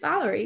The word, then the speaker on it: Valery: It's just Valery, yeah.